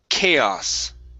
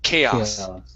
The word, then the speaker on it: chaos: This word here is pronounced chaos. Chaos.